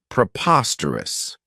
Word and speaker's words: preposterous: I really like is preposterous this adjective has four syllables and the stress is on that second syllable Preposterous remember that OS has that schah sound this means that something